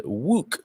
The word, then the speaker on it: Wook: for us books online wook um rhymes with book uh there it's like book with a w dot pay day books